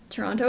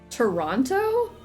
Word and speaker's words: Toronto: Toronto is always fun. A fun one since most people say both T's even though that's wrong. Toronto or is it Toronto?